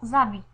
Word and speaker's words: habit: Pour beaux habits, on a habit commence par un H muet qui ne se prononce pas.